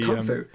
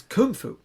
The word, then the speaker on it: Kung Fu: Kung Fu is how it's said every time. Yeah. It's not Kung Fu. It's Kung Fu. It's accented on the up rather than the down.